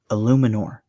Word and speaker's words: Eluemunor: Jermaine Eluemunor. That is how you pronounce his name.